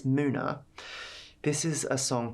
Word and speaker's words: MUNA: never really say it out loud but it's Muna this is a song called I know a